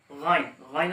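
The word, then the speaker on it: غين: এরপর গাইন, গাইন হচ্ছে হ এর মাখরাজ থেকে, অর্থাৎ হ এখান থেকে যে আদায় হইল এখান থেকে গাইন উচ্চারণ করবেন, অর্থাৎ গাইন, গাইন।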